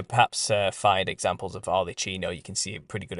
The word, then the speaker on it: Arlecchino: If you type in Harlequin, or better yet, Arlecchino, which is spelled Arlecchino, Arlecchino.